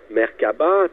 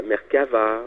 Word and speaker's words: Merkaba: Il y a eu plusieurs façons de prononcer Merkaba, telle la Merkaba, la Merkava, ou encore la Merkava avec un H en passant, tout comme la Merkaba qui porte également un H.